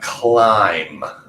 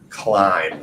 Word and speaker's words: climb: explored next we have climb climb so even though that ends with a B remember that b is silent there so climb last thing I hear